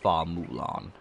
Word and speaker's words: Hua Mulan: It's pronounced Shenfal for real, because Mulan's full name was Hua Mulan, which is pronounced Fa Mulan.